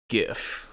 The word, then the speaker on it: GIF: pseudo rather than sudo did I say GIF like peanut butter I usually say GIF with a G like gator yeah I usually say